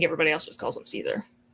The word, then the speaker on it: Caesar: I met with Kaisar, as the Legion calls him. That is technically the correct Latin pronunciation.